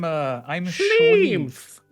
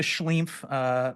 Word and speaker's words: SCHLEEMPH: I'm SCHLEEMPH. It's me, SCHLEEMPH, everybody. I like how you have the double E, so you really it forces you to pronounce like the E, like the SCHLEEMPH.